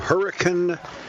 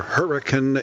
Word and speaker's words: Hurricane: all of us to Hurricane, that's how they say it there, Hurricane, Utah. Spelled like hurricane, sounds like hurricane, where Elaine Connell and Davin Josephs decided to get married.